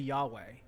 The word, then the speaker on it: Yahweh: I think it's actually Yahweh. That's how you pronounce that.